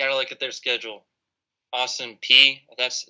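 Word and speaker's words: Austin Peay: contender but you gotta look at their schedule austin p that's how you say it army south florida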